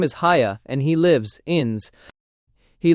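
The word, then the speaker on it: Haigha: His name is Haya. Ho-ching, texture R. Ho-ching, he pronounced it so as to rhyme with mayor and fashion.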